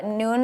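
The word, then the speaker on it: Nuun: on our Instagram noon and you UN it's pronounced noon but it's n you UN it's an electrolyte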